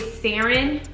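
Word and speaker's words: Saryn: the first one is sarin um s-a-r-y-n i believe that's how you say it um the egyptian origin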